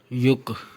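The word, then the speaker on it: 육: पाछ में तो यह काफ की आवाज देगा युक और ये क्या बनेगा युक यु और काफ युक युक छ को कहते हैं इसके बाद गाइस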